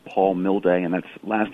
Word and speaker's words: Milde: Nick my website it's just my name Paul mill day and that last name is spelled mal de like Delta echo so Paul